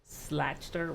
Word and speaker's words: Schlachter: And I have a special guest with me today, Schlachter, right? Did I say that right? Schlachter rhymes with doctor.